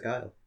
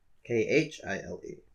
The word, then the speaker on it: Kyle: Yes. Khile. The Kyle. That's what that means. That's what that means? That's exactly what that means. So everyone's been saying it wrong all these years. No, they haven't been saying it wrong. They've been saying everybody else's name wrong. Mine is the Kyle. Kyle. I don't know what the fuck that means. Why did they ever fuck that up? I mean, it's not K.